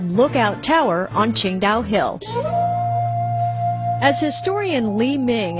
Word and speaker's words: Qingdao: build a brewery too while it's spelled differently it's pronounced the same way the city is pronounced Shang da we visited